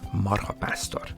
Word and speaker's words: marhapásztor: And in this situation, it will be marhapásztor. Okay? Even the pronunciation is slightly different. If you want to pronounce the compound word, the stress is only on the first syllable.